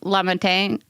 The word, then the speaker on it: LaMontagne: LaMontagne.